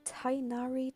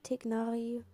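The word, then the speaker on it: Tighnari: Now we have Tainari, Tignari. I don't care, I'm going to call it Tainari, even though it's wrong pronounced.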